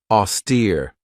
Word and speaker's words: austere: this one right here auster this has two syllables and the stress is on that second syllable with that long e sound auster if somebody or